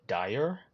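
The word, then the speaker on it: Daher: I don't know if that's how you say it. I've had a look at some of the videos online. They call it Dyer, which is definitely not what it looks like. But if that's how you say it, then that's what it is.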